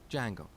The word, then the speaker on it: Django: very popular framework called Django so it's spelled with a silent D and it's pronounced Django it's a web framework